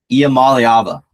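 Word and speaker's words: Iamaleava: Let me just flex on like all the college football commentators and YouTubers who cannot pronounce his name properly. Imam Alyaba.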